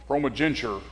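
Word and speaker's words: primogeniture: the birthright we call that today male ProMag ProMag genter is how that's pronounced and that is the right of the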